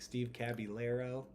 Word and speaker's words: Caballero: I was like, Steve Caballero.